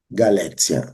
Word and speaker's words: Galécia: Galécia. Alguns gostam de falar Galéquia, mas Galéquia seria uma pronúncia anterior, no período de 400 e pouco, 411, 430, era Galécia.